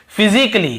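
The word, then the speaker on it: physically: और देखिए फिजिकली, हम क्या पढ़ते हैं, फिजिकली, ये देखिए फिजिकली, तो यहां पर भी ए का उच्चारण नहीं हो रहा है।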